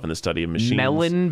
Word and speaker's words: Mellon: the study of machine melon bank that's what it's called melon like the fruit uh it's spelt with